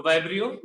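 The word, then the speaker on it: Vibrio: वाइब्रियो cholerae. थोड़ा spelling में झोल कर दिया है, आगे ई लगा दिया है, तो वाइब्रियो या विब्रियो बोलते होंगे बहुत से लोग।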